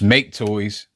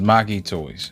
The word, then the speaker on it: Make Toys: uh make so it's make toys that's what everybody says but the chinese pronunciation is maki toys so there we go